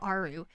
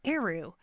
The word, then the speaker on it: Eru: I don't know why I said Aru. It's Eru.